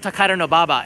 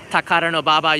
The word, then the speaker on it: Takadanobaba: cheap food there's Takadanobaba station honestly it's called Takadanobaba and I know it's a mouthful Takadanobaba you can see right there it's actually ridiculously